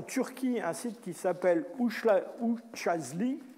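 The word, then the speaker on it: Üçağızlı: On va trouver ça en Turquie, un site qui s'appelle Uçazli. Ça ne s'écrit pas vraiment comme ça, mais c'est comme ça que ça se prononce.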